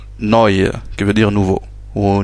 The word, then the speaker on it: neu: On a le E et le U, à côté, ça se prononce oi, comme dans le mot neu, qui veut dire nouveau, ou new en anglais. Donc neu, voilà, le E à